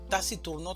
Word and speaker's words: taciturno: Taciturno también tiene cuatro sílabas, una sílaba tónica y tres sílabas átonas. La mayor fuerza de voz la vamos a hacer en la sílaba tur, taciturno.